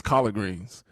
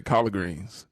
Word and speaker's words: collard greens: we eat collard greens I didn't even know there was a de in it till I got older I thought it was collar greens that's all they used to say collar greens nobody pronounces the D let's be honest yeah